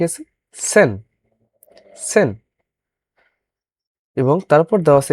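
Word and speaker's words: zehn: সেহা খ এর মত উচ্চারণ আ নয়েন নয়েন যেমন নয় বলি এবং 10 কে বলে আমরা হচ্ছে সেন কেন আমরা সেন বলব কারণ আমরা জানি অলরেডি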